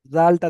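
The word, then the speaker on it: ذال: আচ্ছা, এখানে এই যে আপনারা জালটা দেখতে পাচ্ছেন, জাল, এটার উচ্চারণটা হবে পাতলা করে, বুঝতে পেরেছেন? জাল, জাল, পাতলা করে উচ্চারণ হবে।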